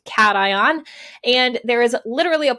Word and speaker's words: cation: is called a cation I know it looks like occasion but it's pronounced cation and there is literally